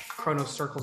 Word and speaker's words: XronoCircle: Chrono circles is how it's pronounced, but it's spelled X-R-O-N-O circles.